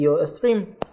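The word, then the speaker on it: iostream: stream es 3 am así se escribe yo estrella y se menciona y se dice y yo stream bien en este caso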